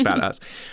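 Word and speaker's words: Joey Bada$$: by taylor parks featuring joey badass i think is how you say it it's bad a dollar dollar sign dollar sign so i'm assuming it's badass um this week i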